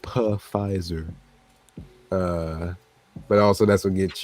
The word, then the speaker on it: Pfizer: yeah, it's pronounced Pfizer.